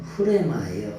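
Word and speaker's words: ῥῆμα: 원래는 흐레마예요. 흐레마. 여기에 감기식이 딱 붙어서 흐레마라고 읽어요. 영어로는 레마로 하지만 이게 뭐냐?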